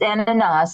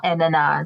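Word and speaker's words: Ananias: how you say yeah it's ananas it's like in the Bible ananas okay it is ananas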